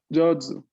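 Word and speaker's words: 上手: Jozu. 上手。 No, no hay U. La U está ahí para indicarme que la O es larga, ¿no?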